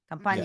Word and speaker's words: Campania: Campania. Yes. Okay. And so, yeah, we're going to head down into the southern region, right? Yes. All right, in the boot. So tell us a little bit about Campania.